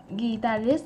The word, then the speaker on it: guitarist: Guitarist thì đọc làm sao? Guitarist là nó trên trời quá, kéo nó xuống.